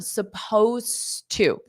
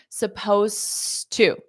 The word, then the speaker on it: supposed to: the pronunciation here everyone supposed to so you don't pronounce that Ed suppos to so you